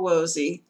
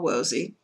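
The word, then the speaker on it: Woese: a scientist named carl wozy that's how his name is tip and it's commonly pronounced in the german it would be different but let's just go with carl wozy he studied the rna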